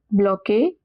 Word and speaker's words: bloqué: And we have bloqué. Usually ES at the end is silent, but E has an accent on top, so we pronounce it as A.